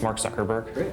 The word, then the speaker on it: Mark Zuckerberg: the people you just say your name and pronounce it so nobody messes it up and they have it on tape sure it's Mark Zuckerberg it was not crazy somebody was gonna connect